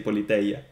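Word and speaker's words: Πολιτεία: So yeah, you said Politia Platonas. In my pronunciation, okay, let's say mine, but okay, in the standard ancient Greek pronunciation, we would say Politeia.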